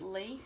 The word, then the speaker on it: Li: I think you pronounce it Lee. It's L-I.